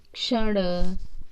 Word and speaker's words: क्ष: तो देखा बच्चों, इस तरह से यह क और श के उच्चारण से क्ष बनता है। ठीक है, कक्षा, कक्ष, अच्छा, पक्षी, क्षण, रक्षक, रक्षा, परीक्षा।